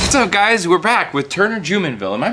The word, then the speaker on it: Jumonville: price what's up guys we're back with Turner jenville am I pronouncing your last name correctly you are pronouncing